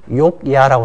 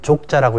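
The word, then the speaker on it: Jogja: 그 여행사 여러분들 가보시면 욕야라고 씁니다. 욕야. 근데 그 여행사에 있는 사람들은 인도네시아에 안 가본 거예요. 인도네시아 사람들은 족자라고 읽거든요.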